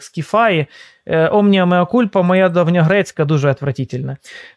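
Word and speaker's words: Σκύθαι: каже О ні значить екусаї Ну екусаї значить скісай скіфай скіфаї Перепрошую Воно читається як скіфаї омнімеокульпа моя давньогрецька дуже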